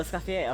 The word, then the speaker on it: Escoffier: Oh, Escoffier. Okay, that's how it's pronounced.